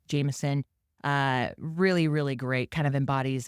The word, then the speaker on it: JMSN: We're going to highlight this really great artist, Jameson, JMSN, but pronounced Jameson.